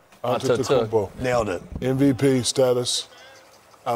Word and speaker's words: Antetokounmpo: Well, Giannis Antetokounmpo. Is that correct? You forgot a syllable right in the middle. Antetokounmpo.